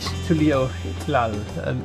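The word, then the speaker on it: Tuliyollal: We're not used to the ways of I the bid you people of welcome to Tuliolal. Tuliolal. They also pronounce it with a bit of an H. Tuliolal, more like that.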